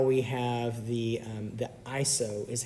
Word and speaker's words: ISO: that affects exposure in a camera is iso izzo izzo izzo iso no it's actually iso is how most people pronounce it iso it used to be called